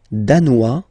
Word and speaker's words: danois: Le Danemark, danois, danoise. Okay, insist on that. Danois, don't pronounce the final S.